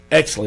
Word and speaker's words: Oechsli: Exley, okay. It's spelled Oechsli, so I didn't want to take a chance on butchering it, but tell us about Teresa.